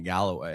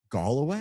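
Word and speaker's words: Galway: to a town and we had been calling it Galloway because it's spelled the same. Apparently, it's Galloway. Gway.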